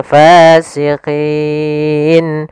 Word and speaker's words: فاسقين: Hati-hati dalam melafalkan fa, harus ada nafas yang dikeluarkan karena dia sifatnya samus, jaroyanun nafas. Jangan pasikin dengan p gitu ya. Banyak yang mungkin ada yang membacanya dengan pa gitu ya, dengan p. Ya, harusnya tidak dibaca dengan p.